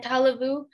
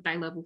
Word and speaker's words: Tailevu: Sorry, Joy, I may have pronounced that wrong. If you want to come on really quickly and help out with that. Yeah, so my dad is from Kolomotu'a, Tonga, and then my mom is from Tailevu, Fiji. Thank you so much for